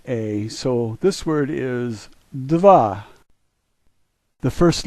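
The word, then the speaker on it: дева: a sounds like a so this word is Deva the first letter is a D sound the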